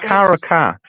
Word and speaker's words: Caracas: Don't they I eat think it's carcass? Caracas.